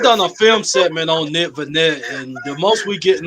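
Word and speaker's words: Nick Vannett: I might be saying his name wrong. Nick Vanette.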